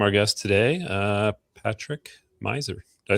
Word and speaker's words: Mizer: Uh Patrick Miser, did I say your last name right? You did. Yeah, people overthink it sometimes and come up with some really interesting pronunciations. But yeah, Meiser.